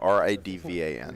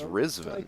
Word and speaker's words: Ridvan: And for years, me, Nick, everybody called him Ridvan, because, like, how else do you pronounce that name? And then recently I find out his name is Rizvan, We'll have. and he was just letting me call him Ridvan because he was too polite to correct me.